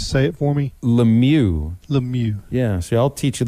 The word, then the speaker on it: Lemieux: Lemieux. Yeah, so I'll teach you the French pronunciations of hockey players, and you can teach me that a fly shop is not a bait shop.